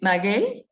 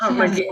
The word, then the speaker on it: Maguey: Maguey, it's Magui.